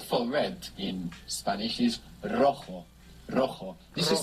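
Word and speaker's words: rojo: stay the word for red in Spanish is roo roo this is spell r o j o and JS in Spanish I pronounced like this and we have the initial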